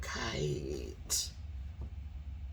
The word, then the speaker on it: kite: But you add the E to the end, now you get kite, right?